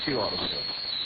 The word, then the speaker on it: CU Auto Sales: We are CU Auto Sales, pronounced Q Auto Sales.